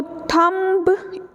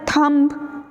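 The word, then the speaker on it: thumb: होता है ठीक है तो थंभ इस तरीके से नहीं साउंड करना चाहिए इसके बीच साइलेंट है इसका बीच ही ब्लेंड हो ले जाता है एम के साथ तो एम ही हमारी प्रॉमिनेंट साउंड लास्ट में बचती है for example some some rather थन थम एक तो थॉ को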